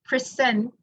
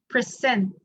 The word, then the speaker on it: present: As John pronounced the words present and present, okay, present is this word, present. But as he pronounced present, the verb format, the stress is at this portion. The last portion, yeah. The second verb or the second syllable. When he pronounced the noun or the adjective format, present, the stress is at the beginning.